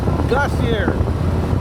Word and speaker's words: glacier: O Portage Glacier. Glacier, glacier, é como se fala.